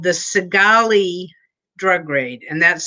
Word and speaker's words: Cigale: oregon in 1977 and it was called the segali drug raid and that's spelled c-i-g-a-l-e okay cigale c-i-g-a-l-e if anybody can google that